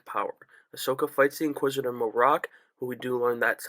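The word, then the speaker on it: Marrok: their rise to power Ahsoka fights The Inquisitor morocc but we do learn that's how you pronounce his name it's not Merrick a lot of people oh my God it's Galen Merrick no it's morocc it's not Sam what word don't worry and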